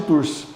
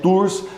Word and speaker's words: Tours: Escreve com T mudo no final, a gente não fala, mas escreve com T mudo.